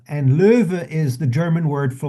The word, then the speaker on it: Löwe: Loew is basically from the German, where it's Lo with an umlaut. W-E, and that would be pronounced Löwe, and Löwe is the German word for lion.